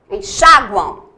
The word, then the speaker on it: enxaguam: Enxaguam. Eu tenho a pronúncia do U, gu, u. Enxaguam.